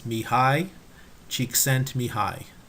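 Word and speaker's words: Csikszentmihalyi: below the his name and the way to pronounce it is Mii chent Mii we'll start with Howard Gardner Howard Gardner is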